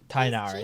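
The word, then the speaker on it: Tighnari: Tainari, Chief that's how you officer pronounce it.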